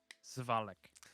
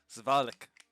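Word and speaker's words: Svalich: Zvalik. Zvalek.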